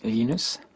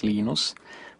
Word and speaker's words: Linus: i speak swedish it's venus when i speak finnish it's linos when i speak english it's linus and i really don't